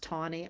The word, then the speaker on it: Taney: And, just so you know, it's it's spelled Taney to Y, and it's pronounced Tawney.